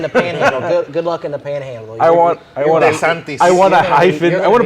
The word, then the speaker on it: DeSantis: like most Southerners, like me, I would say DeSantis, whatever. But every time I hear him pronounce his name, he says DeSantis.